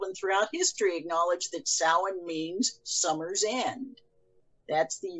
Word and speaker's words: Samhain: the celts worshiped a lord of death named samhain or as it's frequently mispronounced samhain um which of course has now become a